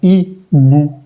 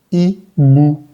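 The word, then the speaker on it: hibou: H-I-B-O-U suena I-bu, I-bu. Recordemos que la O-U, como vimos anteriormente, se va a leer como una U en español. Ibu, que significa búho, se lee Ibu.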